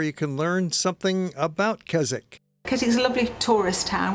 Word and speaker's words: Keswick: The name is spelled with a W in the middle, which remains silent, so let's call it Keswick.